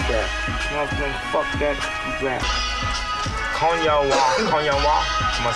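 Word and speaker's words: 今夜は: Konya wa.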